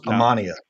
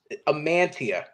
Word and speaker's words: Amantea: every time you three how do you think you pronounce my last name I right I thought it was ammania no no no I don't have a guess amantia amantia okay like I'm gonna do